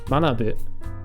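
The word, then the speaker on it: 学ぶ: Because this could also be, if we added bu to it, mana bu, you'll see that it's not pronounced gakubu, it's pronounced manabu, but it's using the same character.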